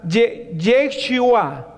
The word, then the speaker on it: Yeshua: La una es, se pronuncia, en hebreo se pronunciara Yeshua, Yeshua.